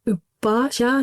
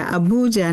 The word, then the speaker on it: Abuja: and she's working at the Federal Medical Center Ubaja, Nigeria. Now, Hinder, if I pronounced that correctly? Yeah, it's a federal medical center, Abuja, Nigeria.